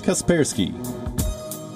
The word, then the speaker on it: Kaspersky: guess free guestbook see Kaspersky Kaspersky the correct pronunciation is Kaspersky have left picard second what I can do